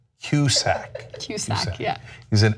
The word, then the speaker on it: Cusack: then there's a celebrity's name that you always mispronounce and it's hilarious john cusack kuszak cusack excuse me yeah he's an excellent progress who